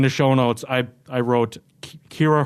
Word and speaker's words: Ciara: yeah, and like my I would like it to be noted that my name is technically the correct pronunciation. It's the Irish pronunciation.